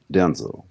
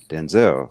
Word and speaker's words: Denzel: that we know well his name is actually pronounced denzel his mom calls him denzel yeah not to say the same name because his father's name is pronounced denzel it's not denzel so you that fine would just come out